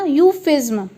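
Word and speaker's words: euphuism: सो इसका प्रोनाउंसिएशन होगा यूफिज्म। जैसे यू और फ्यू और ज्म, यूफिज्म।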